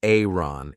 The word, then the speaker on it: iron: is an iron um be careful of the pronunciation I did an entire video on this this is an Aron in British English we say a an and